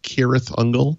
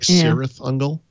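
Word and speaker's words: Cirith Ungol: years ago all of the c names like kirith ungle yeah are hard c's but of course i read them as s sound c's like serif angle and then you find out years later that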